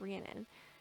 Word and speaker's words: Rhiannon: like Oh Rihanna like don't like Shannon but Rhiannon and so like now